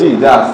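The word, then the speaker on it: judge: আমরা কি বলি জে ইউ জি জাজ, ঠিক না? তাহলে ডি উচ্চারণ হয়েছে এখানে হয়নি। ডি হচ্ছে সাইলেন্ট, লিখতে হবে কিন্তু বলা যাবে উচ্চারণ করা যাবে না, এটা বলে সাইলেন্টলি।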